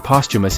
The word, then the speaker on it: posthumous: The H in posthumous is non-etymological, and not normally pronounced at all.